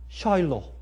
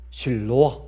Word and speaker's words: 실로암: 실로암이란 말은 이 히브리 말로 샬로 아니면 어떤데? 실로아 이렇게 발음할 수 있어요. 근데 이거는 보낸다 하는데 보낸다. 별 뜻이 아니에요. 그저 보낸다. 헬라어로는 실로암. 그래. 우리 한국말 발음은 똑같아.